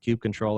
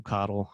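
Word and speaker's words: kubectl: me using you know Cube control or whatever to coddle however you want to pronounce it I call it cake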